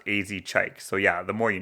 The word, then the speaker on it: Az Chike: And I also did enjoy the feature, whose name I thought was Ass Cheek for a second, but I searched it up, and apparently he gets that a lot, and his name is actually pronounced AZ Chike, so yeah, the more you know.